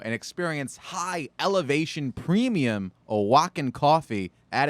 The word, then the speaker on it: Oaxaca: From Oaxaca. Are you impressed that I knew how to how you pronounce that?